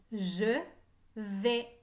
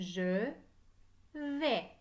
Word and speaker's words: je vais: je vais je vais et le son et s'écrit à i dans je vais la lettre s est muette je vais écrivez je